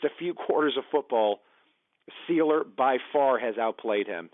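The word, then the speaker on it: Sieler: pronunciation of that right I thought it was Sylar but the announcers were saying sealer well game anyway six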